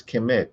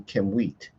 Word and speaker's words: Km.t: And some people would just pronounce this kit, but it's not kit. It would be kimwat, right?